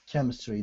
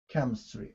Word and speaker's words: chemistry: too yes oh sorry chemistry no problem yep it's with a hard c yeah chemistry okay uh now i